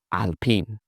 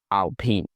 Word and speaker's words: Alpine: So this is what some people call Alpine, but that's not it. The French say Alpine, Alpine, Alpine.